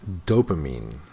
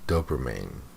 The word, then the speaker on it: dopamine: Okay, some good vocabulary, but he mispronounces the words. This is secrete. And this is dopamine, not dopamine.